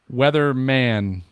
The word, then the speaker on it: Weatherman: Wait, All right, is it moving- Weatherman or Weatherman? Weatherman. Weatherman. M-A-N.